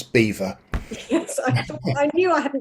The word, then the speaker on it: Belvoir: Stephen Green has pointed out that Belvoir, which is in Rutland, it is pronounced rather in an unlikely way as beaver.